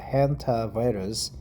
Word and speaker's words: Hantavirus: We call it Hantavirus, but it's a Hantavirus, the American pronunciation.